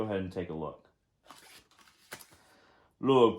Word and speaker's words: Lugh: Lugh, pronounced Lu, was a sun god.